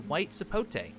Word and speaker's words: white sapote: One thing that I do want to touch on is the white sapote, because I did get a little bit tongue-tied over the correct pronunciation, so you know what?